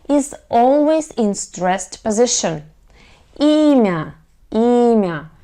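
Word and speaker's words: имя: always in stressed position emia ema here the stress is on the letter e myo emia okay and what about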